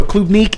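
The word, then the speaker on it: Klubnik: is of Slavic Heritage Club Nika for for those out there listening means strawberry in uh in Russian kuub naika so KUB neque is right there I did look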